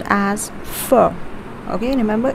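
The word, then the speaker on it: phở: it's spiced with flavors and herbs so it's pronounced as fur okay remember it's pronounced as fur so try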